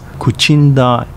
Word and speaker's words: Kochinda: in 2006 with the merger of two towns kochinda and gushikami pronounce kuchinda and gushchang respectively in uchinoguchi there you have